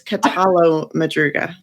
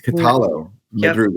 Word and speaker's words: Catallo-Madruga: You were close. It's Catallo-Madruga. Catallo. Yep. So it's not yo. It's not like in Spanish, the LL would be yo. It's Catallo-Madruga.